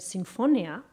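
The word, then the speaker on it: Sinfonia: is a difference so not Symphony but like this more Italian pronunciation Symphonia uh and this fact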